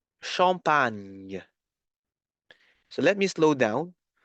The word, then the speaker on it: champagne: You have to pronounce the N, the N sound, N, and then pronounce Y, like in yacht, huh? Y. So, Y, Y, Y. In the word champagne.